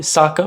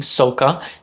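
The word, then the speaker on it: Sokka: mni Chalan The Last Airbender movie famously changed the pronunciation of certain names from their pronunciation in the original animated series most notably Saka becoming sooka Ang becoming Ang and iro becoming oo and if you were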